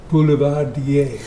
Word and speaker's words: Boulevardier: make, and it is called, because I can't pronounce it, hit it. Boulevardier.